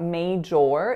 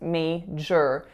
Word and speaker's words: major: one May and then the trick for major is that that second syllable looks like jor but it's not major it's me sure so the o.r doesn't make an or sound it makes an earth sound what was your major